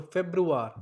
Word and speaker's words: Februar: Now we have to focus on the sound like roar. So if you want to break up the sound, it's like Feb plus roar. So sounds like roar. So Februar.